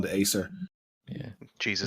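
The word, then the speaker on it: Æsir: the library, on that page it says the Azir, which is what people No, from Asgard it's are called, called, it's apparently. pronounced Acer.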